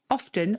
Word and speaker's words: often: 16th and 17th centuries gave a pronunciation with that middle t the medial t if you like being pronounced but others recorded a pronunciation without it and even though